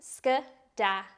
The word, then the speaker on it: skedaddle: or wild way skidadle now let's look at skidadle it's pronounced skad and it's a verb this is a fun